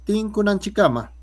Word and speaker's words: tinkunan chikama: Tinkunan chikama. A ver, todos, tinkunan chikama.